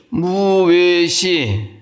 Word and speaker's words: 무외시: 그게 그 외하고 발음이 무외시 할 때 그 외는 입 모양을 동그랗게 하고 그냥 내뱉으면 돼요. 같이요? 이제 외는 그 오므렸던 입을 확 벌리면 돼요.